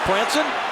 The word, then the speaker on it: Franson: But they do prefer Cody Franson and so we want to get it right.